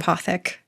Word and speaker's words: Apothec: And the the website is the holistic apathic. Apothec. How do you say it? Apath. Apothec.